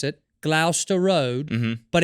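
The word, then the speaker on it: Gloucester: to live off of the tube stop its Glouster right is how you pronounce it Glouster Road but it's spelled Glau Chester oh yeah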